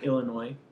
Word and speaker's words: Illinois: And we decided we wanted to actually meet, so I flew Heather here from Illinois.